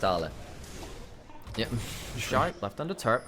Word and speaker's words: Ale: A man who might in one other world be called Ale looks to get some damage down his forces away from his turret. It's pronounced Arla.